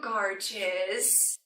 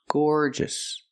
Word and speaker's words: gorgeous: goats and are also garous I cannot pronounce the word garous it's not gorgeous it's Gore gorgeous gorgeous as a matter of